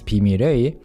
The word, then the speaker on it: 비밀의: But 비밀의 숲 literally means the secret forest or the forest of secrets because 비밀의 or can either work as an adjective before a noun or it can be like of secrets, 비밀의 숲.